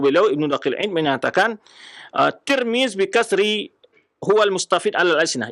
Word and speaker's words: Tirmidz: Kemudian juga eu almutnu ya ahlulifah ta wal mim ya turmuz ada pula yang bacakan domah ya baris di